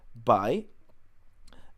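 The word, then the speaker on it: 白: The right part is pronounced by.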